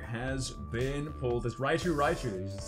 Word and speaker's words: Raichu: a raichu holographic has been pulled this raichu raichu is how you pronounce it they don't change the name on